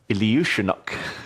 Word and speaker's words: Iljiushenok: Iljiushenok.